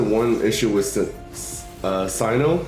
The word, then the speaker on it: Cyno: issue with the uh Sino I pronounce him Sinnoh because of Pokemon uh um but I